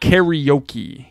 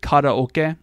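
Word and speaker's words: カラオケ: tall bald white guy but it's not karaoke you probably sang karaoke they pronounce it Cara okay Cara okay so my name is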